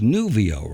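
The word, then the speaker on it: Nuvyyo: way the name of the company is nuvio right that's how you pronounce it new yeah corre what's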